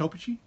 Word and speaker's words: Opechee: think now open Cheon it's pronounced Oh peachy okay Oh peachy Oh